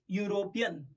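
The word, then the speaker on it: European: But actually इसका जो उच्चारण होता है, उसका जो प्रोनाउंसिएशन होता है वो किसे होता है? यूरोपियन. अगर EGG है तो इसका प्रोनाउंस होता है एग, ई, इससे हो रहा है. पर ये यूरोपियन एग, AU. तो ये जो यू है उसकी वजह से उसका आंसर एन नहीं आएगा, उसका आंसर आएगा अ यूरोपियन.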